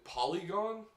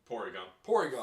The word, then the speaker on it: Porygon: My least favorite would have to be, and I might be pronouncing the name wrong, mainly because I don't give a shit about this Pokemon. Polygon or Polygraph? Porygon.